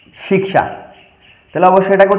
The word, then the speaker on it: শিক্ষা: এবার ক্ষেত্র এবং শিক্ষা হচ্ছে আমাদের বাংলা উচ্চারণ। এই ক্ষেত্র এবং শিক্ষা অর্থাৎ এই কিয়কে, এই কসমলিক্যকে সংস্কৃতে কিরূপ উচ্চারণ করব, তাহলে অবশ্যই এটাকে উচ্চারণ করবো আমরা ক্ষেত্র, এবং এটাকে উচ্চারণ করব শিক্ষা।